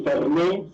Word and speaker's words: Fernex: It's actually Fernet, since it's French, Swiss French last name, but that's cool.